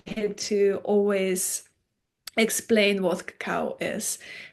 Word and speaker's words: Cacao: the invitation I had to always explain what Cacao is how Cacao is chocolate in its purest form and it's pronounced caca and that Coco is a by